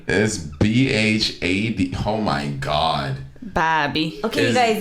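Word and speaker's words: Bhabie: b-h-a-d oh my god bobby okay you guys it is a silent h is b-h-a-d b-h-a-b-i-e had behaved you expect you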